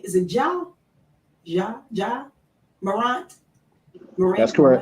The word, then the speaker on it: Ja Morant: Now, I know, Michael, you mentioned about, am I pronouncing his name? Is it Ja Morant?